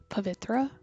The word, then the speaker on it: Pavitra: My name is pronounced Pavitra with an invisible H that doesn't exist apparently.